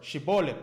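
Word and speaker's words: שיבולת: Okay, I keep mispronouncing this word because most Hebrew words are milgha. Milgha means the stress is always on the last syllable. Okay, if there are any Israelis watching me or any Jewish people, correct me if I'm wrong. Okay, but milel is like penultimate stress. You put the stress before the last syllable.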